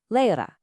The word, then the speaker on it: Lehrer: Next, the letter R at the end of a word or syllable, it often softens into a gentle A sound. Listen to the word for teacher, Lehrer. See how it sounds more like lecha?